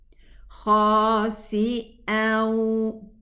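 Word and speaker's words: خاسئا: And now we know why there isn't a shadda on the waw, because there is a gunna pronounced with the waw, and this gunna belongs to the noon sukoon, which is here. We have a noon sukoon here. It's not written as a noon, but pronounced as a noon. Khasi'aw, but we pronounce the first fatha.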